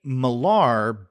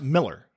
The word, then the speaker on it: Millar: Miller yeah I've heard I've heard people say Millar but I've heard I think maybe even him say that cuz I think he's Scottish right but he's pronounced Miller alright oh oh Miller